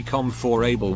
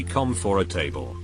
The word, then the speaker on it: comfortable: don't do this anymore but i used to pronounce it cetera the abbreviation not the full phrase as eject comfortable i always say come for able when i know it's supposed to be calm for a table my family especially my two youngest say be